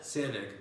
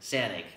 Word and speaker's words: Sanaig: Do you know how to pronounce it? Sanaig. Sanaig.